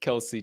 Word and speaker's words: Kelce: I specifically pronounced it Kelsey tonight.